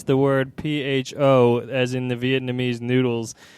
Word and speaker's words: pho: I recently had a conversation with some people about how you pronounce the word PHO, as in the Vietnamese noodles.